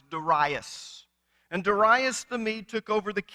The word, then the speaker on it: Darius: Now, if you're like me, I was brought up hearing pastors say Darius. In fact, some of my professors would say that, and then they would correct themselves. Actually, if you want to pronounce it right, it was Darius.